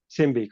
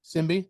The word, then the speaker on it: Symbe: to make sure I say the name right is Sim Simby Simby correct simbe okay make sure I I